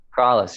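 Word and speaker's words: Krallice: Am I pronouncing it? Is it Kraulis? Kraulis, yeah.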